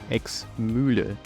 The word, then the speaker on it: Ex-Mühle: Ex-Mühle. Note the umlaut on the U.